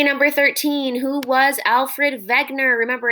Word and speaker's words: Wegener: 13 who was alfred wegener remember it's pronounced wegner because he was german and wow freddie was